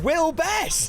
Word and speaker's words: Will Best: So we are joined by a man who who rhymes with guest. It's Mr. Will best that brilliant.